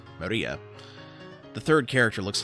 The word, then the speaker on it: Maria: name is written like this of course it's pronounced maria the third character looks like a cross which